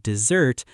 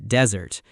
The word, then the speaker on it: dessert: You want to say the food is delicious, but you accidentally pronounce the word dessert like desert.